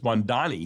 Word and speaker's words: Mamdani: I always thought it was Mamdani. It's Mamdani.